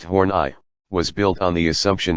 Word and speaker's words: Horney: psychoanalytic social theory of Karen horney pronounced horn I was built on the